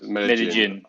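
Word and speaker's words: Medellín: Double L in Spanish is J. I don't actually know how to spell the name, so... It's like, when you write it, it's called Medellin. It's Medellin. Oh, okay. Medellin.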